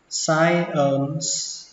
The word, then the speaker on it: science: Ở đây chữ này âm y đọc là i, science, và kết thúc bằng âm s, science.